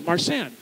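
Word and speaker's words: Marsanne: Hannah married a mission soldier so these are pre-revolutionary family names marsh and sounds like the French grape from the Rhone Valley marsan so we want to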